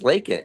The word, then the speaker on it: Laken: It's Laken, Laken, Laken. People call her Lincoln.